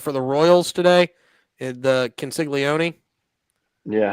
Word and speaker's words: Caglianone: So then, you said for the Royals today, the Consiglione. Yeah, how do you say his name? Jack. Jack Caglianone.